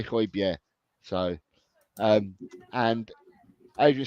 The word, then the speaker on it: Højbjerg: And Ellie, I am Ange and Pierre-Emile Højbjerg in. Did I say it properly this time, Ellie? Because I keep getting hammered by you because I say Højbjerg, but I don't. I say Højbjerg.